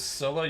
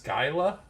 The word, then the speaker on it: Skyla: talking about the name so many people mispronounce her name as Sila you're saying it's Skyla okay well I've never heard